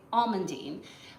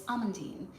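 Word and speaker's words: amandine: in most American restaurants they'll say almondine but in French it's almondine so you'll see that spelling difference don't despair it's basically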